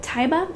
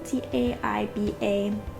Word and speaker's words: Taiba: have to pick up taiba i think is how you would say her name t-a-i-b-a i kind of i count that as saying taiba let me know if you guys have a different pronunciation um but they do